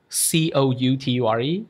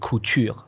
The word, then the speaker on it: couture: C-O-U-T-U-R-E is couture.